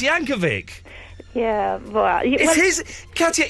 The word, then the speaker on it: Yankovic: He's not going to say it, but it's pronounced Yankovic.